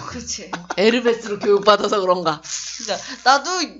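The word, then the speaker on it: Hermès: 그 걔네는 H가 다 무음이잖아요. 그래서 뭐 헤르메스를 원래 에르메스 호텔을 때 햄버거를 엠버가 막 그러더라고.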